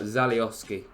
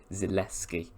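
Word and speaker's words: Zalewski: a very good asset Nicola zaliovski I may have butchered that slightly Roma left wing back yes David you totally messed that up because he's actually Nicola zaleski where the hell is the O why did I say oski 21 years of age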